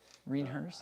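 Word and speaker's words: René Herse: So I did the Reinhers SKF bottom bracket with White Industries cranks. Say that again? Reinhers. Renaers? Reinhers. I like it. Are you doing the bicycle pubes? Yeah. Pronunciation? Mean hearse. Reinhers.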